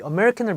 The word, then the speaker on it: American: 커피 많이 마셔서 아메리카노 이렇게 하다 보니까 습관이 된 건지 뭔지 모르겠지만 사실 미국에서는 이 발음을 American, American. 근데 이 부분이 좀 길게 연장이 돼요.